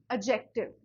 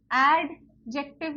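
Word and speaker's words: adjective: एडजेक्टिव है, क्या है, एडजेक्टिव। अच्छा, एडजेक्टिव नहीं बोलना, प्रोनाउंसिएशन पे ध्यान दो थोड़ी सी, एडजेक्टिव नहीं होता, इट्स एडजेक्टिव। डी पे फोकस थोड़ा कम होता है, सो इट्स एडजेक्टिव, एडजेक्टिव।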